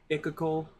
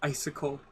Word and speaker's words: icicle: I called the other day Icacle. It was really icicle.